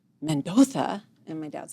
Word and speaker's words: Mendoza: In Spain they don't pronounce their Z's. Like, here, my name is Mendoza, but over there I'm Mendoza. So they say there is Z's as a TH, right?